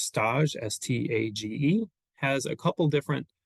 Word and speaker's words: Stage: Frances, I think her last name is pronounced Stage, S-T-A-G-E, has a couple different articulations of this idea.